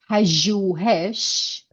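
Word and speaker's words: پژوهش: But this word is Persian, pajuhesh.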